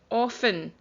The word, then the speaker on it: often: And just as a reminder that, because this is 2 weeks old now, it was a silent T sound.